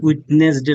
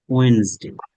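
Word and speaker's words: Wednesday: টিউসডে, টিউসডে, টিউসডে, আপনারা বলেন উইটনেসডে নাকি একটা বলেন, মানুষ বলে ওয়েনসডে, ওয়েনসডে, ওয়েনসডে, বুধবার, থার্সডে, থার্সডে, ফ্রাইডে।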